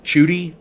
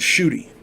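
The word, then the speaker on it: Tschudi: want to say is i'm going to say it's judy it spells t-s-c-h-u-d-i that's how it's spelled i i want to get his name right because everybody deserves to have their name right rivero and shooty chuty they noted mummies of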